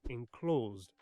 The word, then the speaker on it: enclosed: And rhythm, like those iams my teacher made us drum out in class, those count how many syllables were in, say, enclosed. Two syllables. Except here it demands 3.